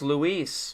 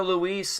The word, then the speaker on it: Luis: He said it's Louise man. Y'all saying it with the s e bro it's oh my god that's how he pronounced his name. Don't talk to me. talked to Louise and the bow to gay Tony.